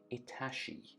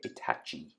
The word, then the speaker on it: Itachi: itachi versus kakashi or as i used to say it before everyone made fun of me in the comments itashi that's right you bullied me into saying it right so i say itachi now because that's how you're supposed to say but uh this is